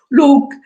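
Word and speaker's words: Lugh: mondo celtico sto parlando Luke e si scrive l g h che muta ovviamente Dio della luce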